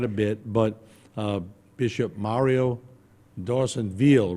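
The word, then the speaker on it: Dorsonville: Napoleonville, but he pronounces it D'Orsonville. It's kind of like a double E there instead of an I. So it's D'Orsonville is how he pronounces it.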